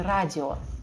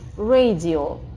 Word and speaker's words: radio: Radio, пожалуйста, не радио. Radio, буква A, слог открытый и ударный. Radio.